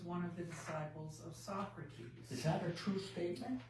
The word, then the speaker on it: Socrates: student and okay and the word is socrates not socrats folks you know that's some